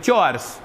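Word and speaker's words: chores: के काम करती हू चर्स बेटा ये हमारे मिस प्रोनाउंस वर्ड है इसको भी याद रखिए डोमेस्टिक या होम कोर्स कह देते हैं इसको ये वर्ड है चर्स चर्स हैव ब्रेकफास्ट नाश्ता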